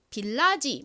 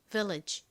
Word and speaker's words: village: 나는지를 모르고이 단어를 읽으면 빌라지 뭐 이런 식으로 많이 읽으시는데 빌라지 아닙니다 입니다 따라해 보세요 Village Village 좋습니다지가 뭘까요 리지는 마을을